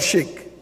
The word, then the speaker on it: chic: Is it chic or chic? Chic. In Bethel, we pronounce C-H-I-C, chic.